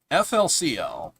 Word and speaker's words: FLCL: two names for it flcl okay maybe it's called flcl but I know it as fully coly flcl pronounced in English as fully coly um yeah so I'm